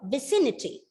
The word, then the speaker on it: vicinity: find out the meanings the stress is on the second syllable the word is pronounced as this vicinity sorry vicinity vicinity okay 12th word is